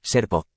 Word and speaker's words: Serpo: Y cuando se pronuncia en inglés suena como Serpo.